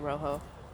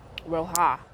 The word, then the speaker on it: roja: but it is the salsa rojo roja that is the correct way to say it um but it tastes